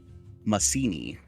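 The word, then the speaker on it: Macini: was the name of that Port town again spell it for me Masini m-a-c-i-n-i well I was right not like legitimately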